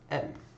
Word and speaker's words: aim: Now we're left with aim, or in French, this would be pronounced M.